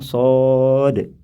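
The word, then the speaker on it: ص: satu huruf muqatah yaitu huruf Shad ni dibacanya panjang Shad dan bacaan panjang pada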